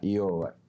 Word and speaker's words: Iovar: ¿Cómo que se pronuncia? Iobar.